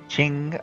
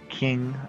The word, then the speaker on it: Qing: So it is in fact the Qing of China rather than the King of China. At least that's what most people say. I actually asked the Chinese speaker, they said it can kind of go either way.